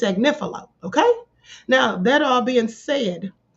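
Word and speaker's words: Agnifilo: And for those of you who are still pronouncing this man's name, Agnilio, please put some respect on his name and say it correctly. It's Agnifo.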